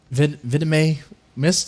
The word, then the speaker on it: Villimey Mist: Well, Villimey missed. Did I say it right that time? Yeah. Okay. Villimey missed.